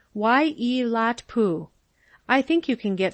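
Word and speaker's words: Waiilatpu: It's pronounced Wai-e-lat-pu.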